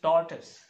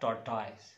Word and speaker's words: tortoise: T or I SC commonly people pronounce this fur is tortoise this is mud turtle it's tortoise tortoise is animal he's taught us not taught toys what number four break